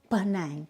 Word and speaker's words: Panang: now panang means crossed which is easily mispronounced and the real way to say it is bang I hope I've said it right and Origins began along